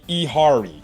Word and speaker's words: Yehari: Um uh Yehari Ehari, that's how you pronounce the Y is silent in the name.